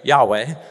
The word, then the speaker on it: Yahweh: one who is uh in Hebrew you pronounce that name Yahweh but what it means